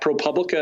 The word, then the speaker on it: ProPublica: and you can reach us with tips at propublica at our service page ah okay so it